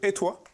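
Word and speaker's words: Etoy: Alors Dorian Rappa, vous venez de Suisse, de Étoile, comme ça qu'on prononce, Tout à fait.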